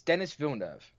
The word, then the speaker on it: Denis Villeneuve: Denis Villeneuve, the guy who did Arrival, Blade Runner 2045, Sicario. It's Denis Villeneuve. Okay. That's how you pronounce that name.